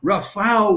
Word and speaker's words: Rafał: Okay, next up, I'll tell you about Rafał Wasiłek, R-A-F-A-L with a slash through it, and that's pronounced like a W in Polish.